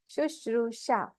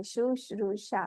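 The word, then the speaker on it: शुश्रूषा: Some people they won't be allowed, they won't be able to pronounce it. Guru Shushusha. Shushusha. Should all say Shushrusha.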